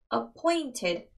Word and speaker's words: appointed: appointed, 이 부분에 지금 강세가 있습니다.